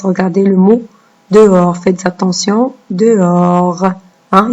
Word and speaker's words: dehors: Regardez le mot dehors. Faites attention. Dehors. Hein, il y a un H ici qu'on ne prononce pas.